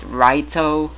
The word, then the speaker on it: Light: In Japanese it is technically pronounced Raito, but it is in fact, when spelled out, it's been spelled as light.